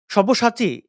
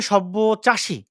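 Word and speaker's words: সব্যসাচী: একজন টুপি দেখা যাচ্ছে সভ্যসাচী এই স্টলটিকে বলছে সভ্য চাষী এবং দেখুন এবার তসলিমা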